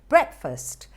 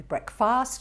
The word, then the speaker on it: breakfast: Breakfast, the second A is pronounced not R. It won't be breakfast, it's breakfast. More commonly mispronounced words, look at this one.